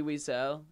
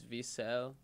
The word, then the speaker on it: Wiesel: guy that lit ellie wiesel ellie i believe it's v cell technically diesel i don't know but um spelled with a w um it was like